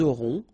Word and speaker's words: auront: here, vous aurez, ils auront, final T not pronounced, elles auront.